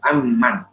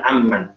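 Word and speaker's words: أم: Nah ketika wakaf, mendapati bentuknya seperti ini di dalam matan aman, maka ketika wakaf bacanya am, jangan aman, ya, karena dia sudah beda kalimat, beda kalimat, bisa wakaf.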